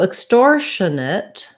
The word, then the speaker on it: extortionate: learned something new so extortionate uh extortionate is just the same as extortion and then we just add the schwa i guess that's not